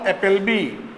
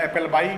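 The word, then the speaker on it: Appleby: अमेरिकी विद्वान पॉल एपलबी, ये कई बार आप इसे लिख दे रहा हूं मैं बोर्ड पे, पॉल एपलबी या एपलबाई, कुछ भी आप उच्चारण करिए, एपलबी या एपलबाई।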